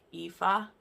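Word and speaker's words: Aoife: heroine by the way it's an irish name pronounced like ifa i think is how you pronounce it it's spelt really weird when you read it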